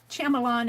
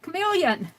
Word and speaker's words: chameleon: I learned from you guys, it's not chameleon, it's not Shyamalan, it's chameleon.